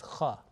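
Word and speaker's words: خ: 7th letter, not jim, not ha, but it's kha. Okay, sometimes it is pronounced like a B option is he or khe.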